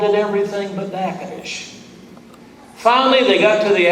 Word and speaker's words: Natchitoches: Well, good afternoon, and welcome to Natchitoches.